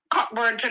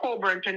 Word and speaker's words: Cockburn Pen: First of all, Cockburn Pen or Coburn Pen, depending on how you want to pronounce it.